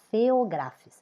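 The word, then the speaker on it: Phaeographis: nosso a few gracies se escreve acima se pronuncia feografia então é o gênero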